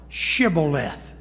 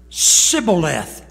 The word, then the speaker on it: shibboleth: man that passed by say now shibboleth and he answered sybileth watch it underline it for he could not frame to pronounce it right then they took him